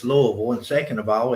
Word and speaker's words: Louisville: here so we can see well we it's Louisville and second of all it's a capital Kentuck